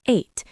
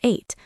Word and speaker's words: ate: Eat becomes ate. It sounds exactly like the number ate.